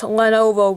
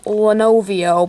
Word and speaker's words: Lenovo: out how i um pronounce lenovo wrong i said lenovo but it's lenovo so um yeah so um